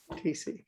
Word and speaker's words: TC: The H is silent. Yes. TC.